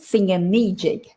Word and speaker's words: thingamajig: name of for example how would you pronounce this lin a singing magic a singing magic now even though it's got that ah singer magic i actually say singer me jig i don't know about